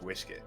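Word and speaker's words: uisce: serious it is fell it is spelled u-i-s-ce it's pronounced whiskey that's funny I'm not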